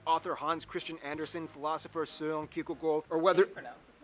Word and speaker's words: Søren Kierkegaard: Hans Christian Andersen, philosopher Søren Kierkegaard, or whether- How do you pronounce his name? That's actually how you pronounce his name. Wow. It's not Søren Kierkegaard.